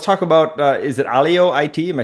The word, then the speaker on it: Alio IT: So, um, well, let's talk about uh, is it Alio it?